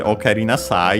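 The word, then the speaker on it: おかえりなさい: I might not have mentioned it before, but yeah, okaeri on its own is an accented, while okaeri nasai is accented on the sa.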